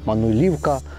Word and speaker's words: Мануйлівка: До речі, з наголосами знову нас вибачайте, як я зрозумів, місцеві тут говорять все на К. Мануйлівка, Юрки, якось на кінцеві. У нас на Поділлі б це говорили на перші склади.